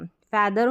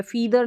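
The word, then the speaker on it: feather: हिंदी में अर्थ भी फ ए टी एच को द और ई आर लास्ट में अर कर के ही उच्चारण रहता है फैदर हो गया फैदर का मतलब पंख हो गया फीदार नहीं बोलेंगे हम बोलेंगे फैदर जो पक्षी के पंख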